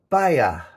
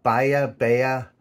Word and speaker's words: Bihai: and it's called Uh Bayer I'm just I think that's very pronounce that the spelling is b-i-h-a-i so buy a bear uh I take it the age is sort of silent but never made that